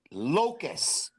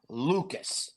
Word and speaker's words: Loukus: have uh finally uh the proper pronunciation of his last name Locus not Lucas that's all I have